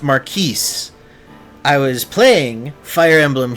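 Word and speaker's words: Marquess: Did you receive word from Marquee Austia? From Maris Austia, guys. All right. It's apparently pronounced Maris.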